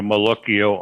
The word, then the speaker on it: malocchio: Malocchio. I've always said Malocchi. Well, that's a abbreviation. You can say it that way.